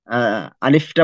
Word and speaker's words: আলিফ: আলিফ আরবি হরফ গুলো যখন উচ্চারণ করব তার মধ্যে শুধু এই একটা হরফ আলিফ এবং হামজা, এবং আলিফ এবং হামজার মধ্যে পার্থক্যটা কি পরে বলবো, এটা কখনো লম্বা হবে না, আর বাকি সমস্ত হরফ গুলো লম্বা হবে।